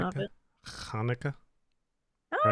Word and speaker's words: Hanukkah: because I don't know yeah like uh yeah Hanukkah okay cool all right that's answered the question if that's the pronunciation of it Hanukkah all right there you go trying to get